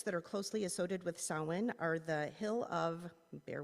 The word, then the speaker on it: Samhain: As he said, it looks like Samhain, but is pronounced Samhain.